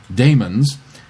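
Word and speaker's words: daemons: to be pronounced correctly the Brits sometimes stick an extra a into words that have a long e sound but it doesn't change the pronunciation I don't know what anachronistic language thing influences these spellings but Damons is still pronounced like demons and Orthopedics is still pronounced like Orthopedics I wasn't going to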